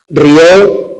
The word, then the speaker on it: rió: Rió del verbo reír, él rió a mandíbula latente frente al sustantivo río, que tiene dos sílabas, o la primera persona del presente indicativo del verbo reír. Yo río, que suena igual que el sustantivo. Ahí el acento no sirve para distinguir.